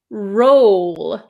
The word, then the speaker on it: roll: the r r rur the second word is roll I make an O shape with my mouth roll roll R uh can you see my finger here rur roll